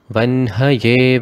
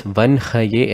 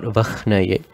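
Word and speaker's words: वह्नये: Tapta chami karabhaya vanhaye vishvakarmane vanhaye vishvakarmane. Again note, it is vanhaye and not vakhnaye.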